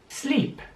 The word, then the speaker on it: sleep: dass diana auszusprechen also sleep sleep heiße viel wie schlafen sieht man dass das wort mit doppel geschrieben wird aber es wird je ausgesprochen also wie lange sie sleeps leid heißt so